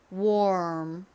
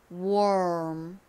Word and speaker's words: warm: 하다가음 이렇게 모양을 만들어 주셔야 됩니다 자 한번 발음해 볼게요 warm 한 번 더 해 볼까요 warm 오케이 War 이렇게 정확히 발음하기 힘드시면 렇게 기억해